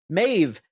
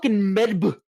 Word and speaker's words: Medb: Mave. Like if you were pronouncing Mave how it's spelled it'd be Medb, right?